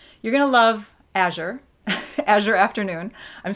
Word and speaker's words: Azure Afternoon: Azure Afternoon.